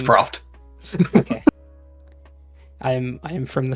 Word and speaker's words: Proft: We're starting with our good old friend here, Alquist Profit, Master Sleuth. He's a... I don't know how to... It's Proft.